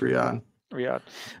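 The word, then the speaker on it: Riyadh: RI RI was it RI yeah yeah just Riad Riad uh Saudi Arabia the King University Stadium uh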